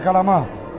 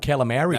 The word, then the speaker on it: calamari: He ordered 5 calamari.